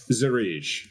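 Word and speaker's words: Zery: Zar. So, it's I don't know how to spell that.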